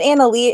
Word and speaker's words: Annalise: Is it Annalise? It is Annalise, right? Yes, Awesome. you got it right.